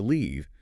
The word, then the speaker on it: leave: across the desk, and instead of using the long e to say, "I am going to leave," they use the short eye, and declare, "I am going to live."